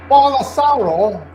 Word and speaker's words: Bolsonaro: Bolsonaro. There we go. I got it right. So anyway, Bolsonaro.